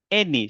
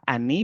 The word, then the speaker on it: any: Any. Ce n'est pas any, mais any. Donc ici, le son de A donne, le A donne le son de E.